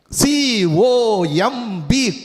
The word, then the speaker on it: comb: Ba is silent, right? C-O-M-B, comb. And the comb, right? What for? To comb my hair. All right, the ba becomes silent.